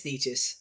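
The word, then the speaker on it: Nečas: I think Colorado also getting Drury and Necas, however you pronounce his name. It's Necas. I do know that.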